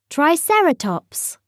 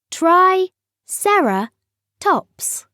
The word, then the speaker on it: triceratops: means three horned face how do you say it triceratops say try sarah tops in the swamp a